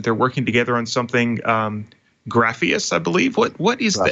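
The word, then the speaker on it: Grafeas: recently announced that they're working together on something, Grapheus, I believe. What is that? Did I pronounce it correctly?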